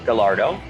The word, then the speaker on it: Gallardo: everybody always comments about how I pronounce uh the term gardo um and if you actually in Italy or anywhere else in the world it would be Gallardo uh but as you